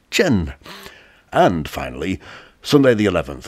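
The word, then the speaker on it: 辰: The year of the dragon is associated with the earthly branch symbol, which is pronounced Chen.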